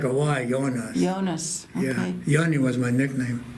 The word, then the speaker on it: Jonas: died when you leave Jeremy it's it's not pronounced Jonah's injured for not seeing us oh I didn't realize yeah I said DJ's like a why going on yonas yeah Yanni was my nickname Jonnie Jonnie was